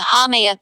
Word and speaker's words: Haumea: Haumea Haumea, pronounced hum in the Hawaiian language, is the goddess of fertility and childbirth in Hawaiian mythology.